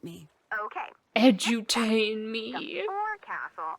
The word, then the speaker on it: forecastle: forecastle on a ship refers to the upper forward deck of a sailing ship, but it's pronounced... Oh, she is edutaining. Why's that? Try pronouncing it like an English sailor with no formal education.